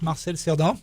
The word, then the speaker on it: Marcel Cerdan: Yes, that's how you pronounce it, Marcel Cerdan.